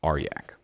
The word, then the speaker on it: Arjac: It's not Arjac, it's Arjac. Oh, okay. That's his correct pronunciation.